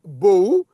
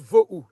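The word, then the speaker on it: בֹהוּ: Mais on a vu que, bon, je vais t'expliquer après, je vais vous expliquer après pourquoi on écrit Bohu, mais les Hébreux, ils prononcent Vohu. Je vous explique. Bohu.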